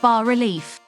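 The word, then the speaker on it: bas-relief: It's pronounced bas relief.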